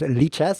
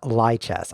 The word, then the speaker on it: lichess: That's pronounced lichess, in case you're wondering. It's not lichess. I know that I was calling it lichess for about 20 years, but then I realized it hadn't been invented yet.